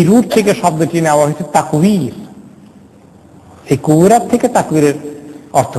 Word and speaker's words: তাকওয়ির: তাকওয়ির মানে তাকদীর না, দশকম আছে ওয়া, অনেক সময় বায়ের কাছাকাছি হয়ে যায় উচ্চারণ করতে, তাকওয়ির উইথ দা ওয়াও।